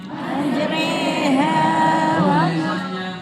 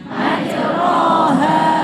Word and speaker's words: majreha: 1 juz 12 bunyinya majreha majroha membacanya majreha juga sama ora usah-reo sing miren itu harokate laki ketemu kayak lagi kena L motenireha.